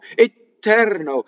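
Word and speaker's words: eterno: Etɛrno. In English, it doesn't happen that way, and that's just the way we speak. We shorten, right? So the beginning of a word is long. The end is short.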